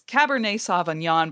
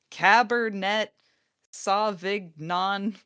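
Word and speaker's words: Cabernet Sauvignon: It's Cabernet Savanyan, but he says like Cabernet Savig non.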